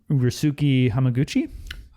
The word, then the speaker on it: Ryusuke Hamaguchi: But this is directed by, I don't know how to say this exactly, but Ryusuke Hamaguchi.